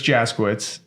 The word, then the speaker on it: Jaskiewicz: him right here in person in person jitz did I say it right you did oh